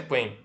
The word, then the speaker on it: ad quem: E aquele que vai julgar o recurso, aquele que vai analisar essa decisão, é o juízo ad quem. Perceba, não temos aí o trema, mas a pronúncia é quen, tá?